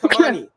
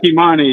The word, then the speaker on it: Kimani: But but Kamani, is it how do I say it? Kimani. Am I saying that right? Kimmani. Yeah. You pronounce it just like you would in Spanish.